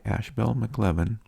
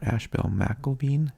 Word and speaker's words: Ashbel McElveen: The James Hemings Society, founded by Ashbel McLevin, or Ashbel McElveen is probably the more proper pronunciation.